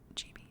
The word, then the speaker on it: GB: I like to call her Gibby ASMR, but I think she likes to pronounce it GB.